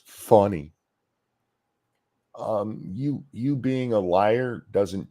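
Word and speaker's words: Fani: As long as she's been in public life, nobody's ever pronounced it Fawny. Not once. I've seen her name said on the news, and not just Fox News. All people call her Fanny. And they're like, no, it's funny.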